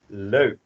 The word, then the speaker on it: leuk: So, het woord van de week is, again, try to repeat after me, leuk.